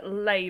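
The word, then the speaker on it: Leigh: i jesus christ uh i think that's that's pronounced the author of shadow and bone yeah uh lay bardigo labe okay thank you i would say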